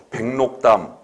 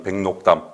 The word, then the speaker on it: 백록담: 백록담. 제대로 됐지요? 이때 록의 리을이 니은으로 되죠. 니은 발음이 백록담. 그리고 기억도 어떻게 됩니까? 비음을 겪어서 NG 이응으로 발음이 나죠.